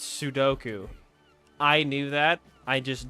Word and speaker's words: sudoku: Suduku. It's sudu sud. It's sudoku.